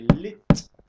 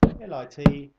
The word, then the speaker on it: lit: yeah it's going to say lit lit and b-e-d that's an easy bed I think as I said before I think that you don't pronounce the T you just go